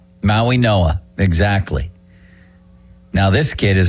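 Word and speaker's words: Mauigoa: It was an unbelievable pronunciation. That doesn't even look like the name. He's a tackle from Miami. And Maui Noah. Maui Noah.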